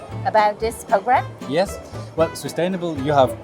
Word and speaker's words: Swisstainable: Well, Swisstainable, you have pronounced it correctly.